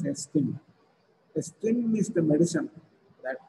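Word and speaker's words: ezetimibe: It is not pronounced as Ezitimb, but it is, the spelling is Ezitimb, but it is pronounced as Estim.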